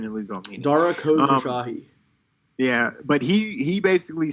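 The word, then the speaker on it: Khosrowshahi: I think, well, Uber CEO, Dara K, can't pronounce his last name. Khosrow Shahi. Say it again? Khosrow Shahi.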